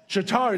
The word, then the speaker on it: Chitauri: The Chitauri, I think I'm mispronouncing it. I don't remember exactly. Chitauri, is that it? Leslie, you know. Chitauri? Chitauri, there you go.